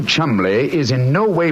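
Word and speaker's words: Cholmondeley: had no reason to know that the name chamley is in no way pronounced the way it is spell I never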